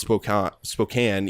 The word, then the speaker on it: Spokane: It's Spokane. Spokane. Yeah, we found out it's pronounced Spokane, even though there's an E at the end.